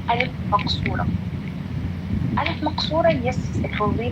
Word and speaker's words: ألف مقصورة: It's pronounced as ألف, like ندى, سلمى, على, هدى. Yes, it will go like ألف.